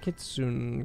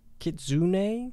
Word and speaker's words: kitsune: say that word again Kari gets wink it's kitsune gets its name kids swing kids thank you for the prime subs kitsune kitsune kitsune I'll remember that for the next